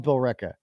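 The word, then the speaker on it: Billerica: a red town okay I love Bill ricka and I can pronounce it right too and uh they had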